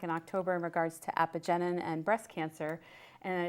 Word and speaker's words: apigenin: But one of the amazing therapeutic applications for celery is this substance called, apigenin? Apigenin. I have my hospital person, professional, to help me pronounce names.